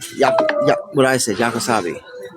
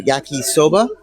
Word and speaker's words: yakisoba: And they call it yakisabi. And as much as I try, I don't know if I'm ever going to get what they call it out of my head. So let me try yakisoba.